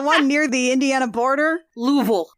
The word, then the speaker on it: Louisville: near the Indiana border louville l l l l you're just saying vowels yes yes you always know someone's a stranger cuz they'll be like Louisville Louisville God forbid you get